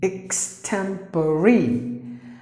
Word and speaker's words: extemporary: temporary you have to pronounce the letter e please don't silence it just because it ends